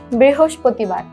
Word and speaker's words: বৃহস্পতিবার: বুধবার তারপরের দিনটি হচ্ছে বৃহস্পতিবার আমরা কিন্তু বৃহস্পতিবারের উচ্চারণে অনেকেই ভুল করি আজকে শিখার পরে থেকে আর এই ভুলটি বুধবারের পরের দিনটি হচ্ছে বৃহস্পতিবার বৃহস্পতিবার কিন্তু আমরা অনেকেই বিশুধবার বলে থাকি এটা কিন্তু আজকের পরে